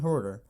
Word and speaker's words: Huerter: Playoff Kevin, I didn't imagine him, Kevin Huerter, that's really the pronunciation, I always muck it up, but he dropped 25 points, beat the 76ers.